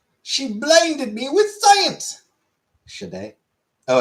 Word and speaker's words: Sade: Sade? Oh, it's Sade? Okay. Well, thank you, Killface. You talking about that artist? Yes. I assumed Sod because Marquis de Sade.